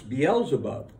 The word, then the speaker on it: Beelzebub: Now, but at least now you know the correct way to pronounce Beelzebub.